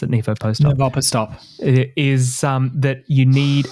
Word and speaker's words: NIVOPOSTOP: So the summary from the discussion, I guess, of the study, the NIVOPOSTOP study, Josh, is how you pronounce it, NIVOPOSTOP.